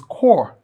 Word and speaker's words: Corps: The letter C of NYSC is this word, National Youth Service Corps. All right, so this is core, and it rhymes the same with core here.